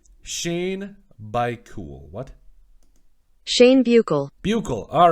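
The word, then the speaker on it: Buechele: want to get these right for you guys pronunciation here we go shane by cool what shane buckle buckle all right shane buckle there we go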